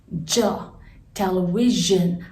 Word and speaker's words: television: the next one is television i have underlined the two letters s i which needs to be pronounced as ja ja television television all right number 13